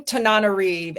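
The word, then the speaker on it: Tananarive: How does she pronounce her name? Tanariv.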